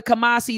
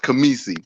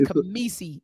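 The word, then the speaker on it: Khamisi: peace Queen and uh my actual name is pronounced camisi but it's okay A lot of people you always keep calling you because that that car that that k-h-i so how do you say it's kamisi it's kamisi yeah it's all good so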